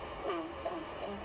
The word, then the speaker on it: Okuku: Okuku, in the first place, rightly pronounced Okuku, is the general hairdo of the Benin people.